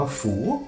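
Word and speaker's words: 福: แล้ว ใช่ มั้ย ครับ มัน อ่าน ว่า ฝู ฝู คำ ว่า ฝู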